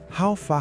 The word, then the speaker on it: How far: Literally, it means, how far have you come? But we use them as greeting. Pronunciation. How far? Emphasize the far part slightly.